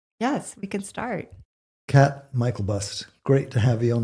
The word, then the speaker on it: Myklebust: comes up to hit, they say the last name wrong every time. And my daughter's in the background like, it's Myklebust. That's so cute. So, Sorry. Go on. Cat Myklebust, it's great to see